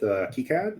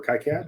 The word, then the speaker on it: KiCad: We have we're catching up on support with KiCad or KiCad, depending on how you feel like pronouncing it.